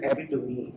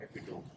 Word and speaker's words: epitome: तो हमने एक कैंपेन चलाई जिसमें हमने लोगों को उर्दू में लिख के बताया कि it is epitome, it's not epitome.